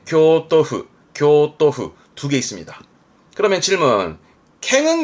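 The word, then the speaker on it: 京都府: 발음은 오사카후. 그리고 네, 교토후.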